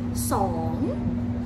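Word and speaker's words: สอง: 2 is song.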